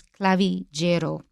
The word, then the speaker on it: clavigero: in friend and sorry in italian it's pronounced j if it's front of